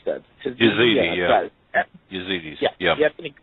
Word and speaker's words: Yazidi: I just don't know how to pronounce that. Yazidi, yeah.